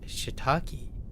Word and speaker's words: shiitake: But I didn't realize that she had two E's in it, like she-e, right? Shiitake.